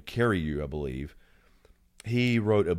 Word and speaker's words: Carreyrou: The guy who did the story in the Wall Street Journal, John, I'm mispronouncing his name, Carreyrou, I believe.